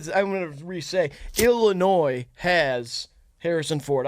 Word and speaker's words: Illinois: I want to resay Illinois has Harrison Ford I understand that the S is silent and you do he